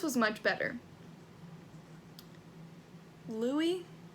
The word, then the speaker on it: Louis: Lewis was much better. Louis? Can't remember which is the correct way to say it. I'm just gonna say Lewis, though. Louis. No, it's definitely Louis.